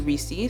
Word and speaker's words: Risi: name reecey okay so my artist name is spelled rsy but my real name is actually reecey so it's spelled r-i-s-i and the name risi